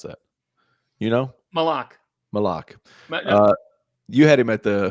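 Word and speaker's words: Maluach: Kaman Mulak? Malak? How do you pronounce that? You know? Malak.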